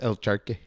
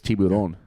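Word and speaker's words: tiburón: But in Spanish, it's El Charque. It's not. That's not how you say it. Do you know what it is in Spanish? I actually don't. You probably know better. I do know. It's tiburon.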